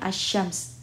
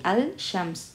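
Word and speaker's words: الشمس: karena setelahnya ada tasydid maka kita langsung membacanya assyams bukan lagi al-syams tapi as-syams sama seperti ad-din asfala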